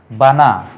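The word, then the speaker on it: بنى: হচ্ছে এবং এটা আমরা জানি হরফে আতফু ওয়া বানাইনা ওয়া বানাইনা শব্দটা যদি আমরা একটু বিশ্লেষণ করি আরবিতে তিন বর্ণ বিশিষ্ট একটি ভার্ব হচ্ছে বানা বানা বানা অর্থ হচ্ছে বানানো আমরা যেটা বলি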